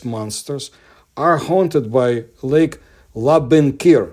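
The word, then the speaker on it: Labynkyr: are haunted by Lake laen kir that's how it's pronounced correctly in the east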